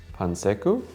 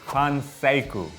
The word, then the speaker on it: Panseiku: - Pan-secu? - That's pretty good, it's Panseiku.